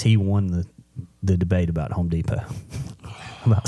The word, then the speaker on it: Home Depot: I said, "Buddy, it's Home Depot." And he said, "No, there's a T at the end." I said, "Yeah, but the T is silent."